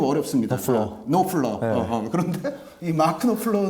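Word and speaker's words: Knopfler: 마크노플러 아는 분이거든요 어 그 KN O PF 발음이 좀 어렵습니다 노플러 어어 그런데이 마크 노플러 는 1907 80년대 다이어스트레이츠는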